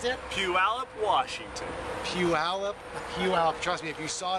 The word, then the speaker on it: Puyallup: who is age 2 from, how do you pronounce it? Puyallup, Washington. Puyallup.